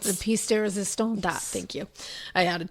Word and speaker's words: pièce de résistance: Pièce de la résistance. The pièce de résistance.